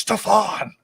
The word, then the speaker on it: Stefan: I used to do videos and I called him Stefan. He was like, it's Stefan.